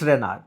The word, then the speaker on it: Renarche: It's Renarch. Okay. Okay. So, I figured it out from the arc. So I figured that it would be renarch and the author's name is Hal Sha and